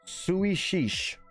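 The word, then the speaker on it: Suidh Sìos: The title is Gaelic for sit down is pronounced Suie Shish.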